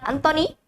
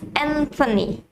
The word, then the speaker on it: Anthony: it's anthony anthony albanese it's not anthony it's anthony okay and then let's move